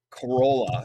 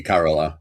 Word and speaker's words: Carola: Uh, we mentioned Corolla or Corolla. I think the Swedish pronunciation might be Carola, but I mean, Carola.